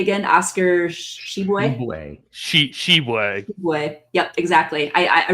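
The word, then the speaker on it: Tshiebwe: very well do you know Tim it's she sheway okay nice perfect yeah exactly I mean he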